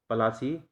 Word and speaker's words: प्लासी: अलग उच्चारण करते हैं, तो पलासी प्लासी हो गया, और आज भी यही नाम चल रहा है, प्लासी।